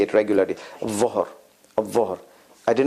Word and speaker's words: ظهر: ظهر. الظهر. الظهر. الظهر. ذهب. ذهب. ذهب. الظهر. ذهب. You see, ذهب. A little bit tongue out. ظهر. More tongue out.